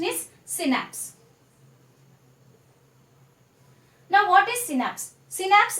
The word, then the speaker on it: synapse: The pronunciation is synapse.